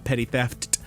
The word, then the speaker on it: Petty Theft: That is how it's pronounced. 2 P's at the beginning, 2 T's at the end. Petty Theft, for the use of